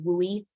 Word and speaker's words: WUI: Urban interface or sometimes people call it the wooi which is just how you would pronounce wui um you know and